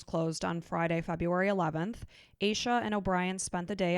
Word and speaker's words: Asha: It's Asha is how it's spelled, but it's Asha.